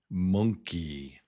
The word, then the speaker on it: monkey: It's actually this word m n k together is monk. Nk. Nk. Rather than n it's nk. Nk. Monk. Monkey.